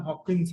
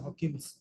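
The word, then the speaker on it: Huygens: लिखो हजंस टू एजम्पशनंस इसका नाम हॉकिंस है हॉकिंस जैसे से इसमें है वो जो समझ गए स्ट्रेंजर थिंग्स वैसे उसका प्रोनाउंस यही है हॉकिंस वैसे ही है।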